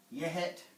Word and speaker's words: yehet: Then with the E, we have words like kuhet, yehet. That gives us would be a short E in English. It's also a short E in Nez Perce.